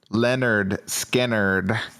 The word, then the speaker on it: Lynyrd Skynyrd: 381, Leonard Skinner, pronounced Leonard Skinner. Yeah, that's funny. How many times were people calling him Lynyrd Skynyrd before?